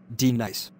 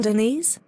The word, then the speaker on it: Denise: class is going to feel my wrath now dee-nice you mean deniz son of a gun you say your name